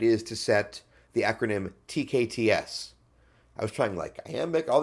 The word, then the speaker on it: TKTS: things, and it's like, it's not TKTS or TKTS, it's TKTS. Right? Like when you say it, it's TK, pause, TS. TKTS. The TKTS booth. Like that's how you say it.